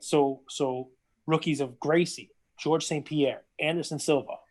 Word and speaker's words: Gracie: Royce Gracie, which is spelled with an R, but it's pronounced like an H. That's Brazilian.